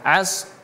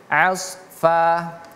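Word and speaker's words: عصفا: Nah jangan kita baca asa tapi asfa. Oke. Falsifati asfa. 1 2 3. Falsifati asfa. Ingat huruf shad ini tebal jadi bacanya as as bukan as fa tapi asfa.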